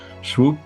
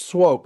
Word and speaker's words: Swoope: Joel Salatin, coming to us from Swoope, Virginia. Do I say that correct, Joel? It's pronounced Swope. It looks like Swoop because it's got two O's, but it's actually pronounced Swope.